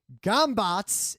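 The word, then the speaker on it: Gömböc: dots over at C pronounced gambot in Hungarian but it's o's with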